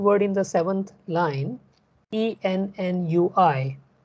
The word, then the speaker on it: ennui: So for example, the second word in the seventh line, E-N-N-U-I. Now, no amount of your general knowledge will help you to pronounce this word, right? It is ennui.